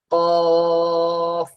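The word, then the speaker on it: قاف: তো কাক যেমন ভাবে ডাকে অ অ, ওই যে কাক যে ডাকে, সেই কাকের ডাকের উচ্চারণটা, মনে করেন কাক এই কফ দিয়েই ডাকে।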